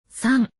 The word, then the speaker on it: さん: It is さん。